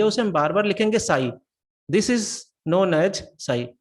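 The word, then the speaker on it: ψ: तो इसे हम प्रोनाउंस करेंगे साई, इसे हम कहेंगे this is the wave equation, ठीक है, ये वेव इक्वेशन है।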